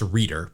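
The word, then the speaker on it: Rueter: Expos it's Kurt Roto-Rooter I think it's pronounced reader but I'm gonna go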